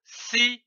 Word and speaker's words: sirop: ces deux syllabes donneent le mot sir on ne prononce pas le P comme ici du sirop